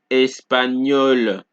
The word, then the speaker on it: espagnol: So the GN in French is pronounced similarly to NI in the word onion in English. Example, agneau, bagnole, espagnol.